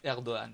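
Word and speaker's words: Erdoğan: que le G avec un petit tiret en haut, on le prononce pas, donc on dit Erdogan.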